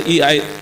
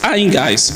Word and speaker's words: EMOGAS: AIMGAS, a lot of people pronounce it differently. Some people call it AIMGAS, or they want to say EIGAS. It's AIMGAS.